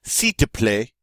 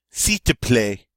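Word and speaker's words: s'il te plaît: to play and really if you say it correctly you don't need to see say the L part here that kind of gets lost and really comes out C to play C to play and that means please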